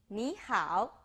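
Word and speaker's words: 你好: as hello I will introduce you an interesting way to remember the pronunciation me as me how as how so hello how is your knee knee how the second sentence is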